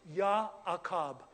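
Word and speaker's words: יעקב: Now, now guys, in Hebrew, this is Jacob is pronounced YaKob.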